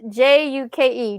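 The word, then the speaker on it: Giauque: It's pronounced Juke, Juke, like a Oh, jukebox. Duke.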